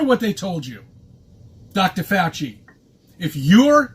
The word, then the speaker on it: Fauci: they told you Dr fauci you if you're not vaccinated this is the name of chi I thought it was fousey if I just I